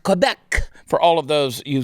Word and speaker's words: Quebec: hell hasn't in the province of quebec uh pronounced quebec for all of those you still think french